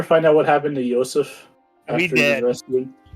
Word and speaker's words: Joseph: is Joseph, but I was told, according to my notes, I'm supposed to pronounce it Yosef. Yeah, it's Yosef. Okay.